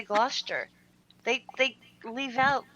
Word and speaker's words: Gloucester: many other languages so say Claude Chester but you're supposed to say Gloucester they leave out letters